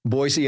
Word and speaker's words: Boise: Yuma Arizona to um Boise Idaho Boise by the way is the proper pronunciation I understand this from the natives yeah yeah right right